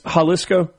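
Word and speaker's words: Jalisco: It's Haliscoco.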